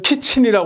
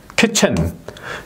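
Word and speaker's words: kitchen: 저 영안 사전에 어쩌면 키친이라 이렇게 돼 있을 거예요 이거 아니에요 이거 이렇게 발음하면 안 되는 거예요 키친이 아니에요 예 여기에 보면은 예 그래서 키트 하고 천 키츠 천 이렇게 적어도 이제 해야 예 그러면 이제 키 키체 예 키체 이렇게 발음해야 되는 거죠 케 예 예 여기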